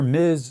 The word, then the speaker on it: Ms: If you don't hear Miz spoken aloud, how are you supposed to know?